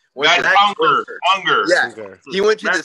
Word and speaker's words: Unger: Unger.